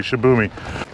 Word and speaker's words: Shibumi: First, let's take a look at the Shibumi, and you don't know how long it took me to pronounce that properly, Shibumi.